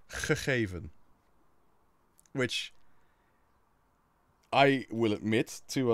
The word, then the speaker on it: gegeven: Now, the further down south you go, so let's say I live in the center of the Netherlands, so the way I would pronounce it is gegeven, which you can already tell is still quite guttural, but it's not as guttural as it is up north.